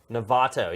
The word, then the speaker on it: Novato: Novato, yes, not not Nevada.